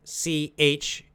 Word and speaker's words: Chuang: Taoist philosopher, is Chuang, C-H-U-A-N-G. Chuang, I don't know how to pronounce it in Chinese, but that's how we say in English.